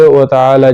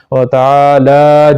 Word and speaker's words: تعالی: اسمک ہے۔ وتعالی جدک، یہ لام جو ہے لوگ اس کو نیچے پڑھتے ہیں، وتعالی جدک، بلکہ اس کو ایک الف کی مقدار کے برابر اٹھانا پڑے گا، وتعالی جدک ولا الہ غیرک۔